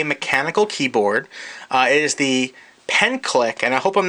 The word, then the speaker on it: Penclic: It is the Penclic, and I hope I'm not pronouncing that wrong, P-E-N-C-L-I-C, Penclic Professional Typist MK1.